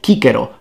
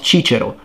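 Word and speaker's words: Cicero: pronounced like a k so it's kikero not chichero kaisar not cesar canturio not centurio you get the point well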